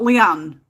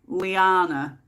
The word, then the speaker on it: Lyanna: they really really liked lyanna not leanne lyanna and when it come